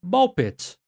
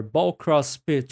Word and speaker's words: BALL x PIT: playing Ball Pit, or Ball Cross Pit, or however you want to pronounce it. It's like Hunter, the X is silent. Yeah. I like how Tom Clark says it, Ball X Pit, because it's so silly.